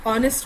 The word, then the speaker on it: honest: Okay, the last one, it's an honest man. As I taught you, H is silent, तो O हो जाता है, तो an honest man होगा.